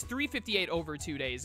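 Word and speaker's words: 358/2 Days: it's 358 and then the slash is supposed to be like in fractions like division because it's it's 358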